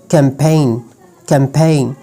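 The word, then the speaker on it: campaign: मिसाल के तौर पर अलाइन, साइन, कैंपेन। अच्छा, no, when ji comes after vowel and before H then it will silent.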